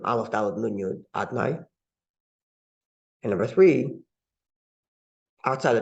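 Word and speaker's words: אדני: Whereas outside of the temple, it's recited in its alternate name, Aleph, Dalet, Nun, Yud, Adnai.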